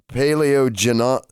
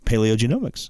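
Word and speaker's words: paleogenomics: go far beyond humans paleo Jinna paleo gin Oh paleo genomics it is paleo genomics that's that's that's I was I got man I got the paleo genomics I was putting the emphasis on the wrong syllable is yielding surprising discoveries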